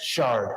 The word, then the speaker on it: Shard: morning sir good morning my name is Shard I represent Shannon Stillwell you know okay his name is sha he really pronounce that out loud because every time the